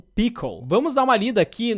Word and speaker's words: Pkl: Pronuncia-se Pickle.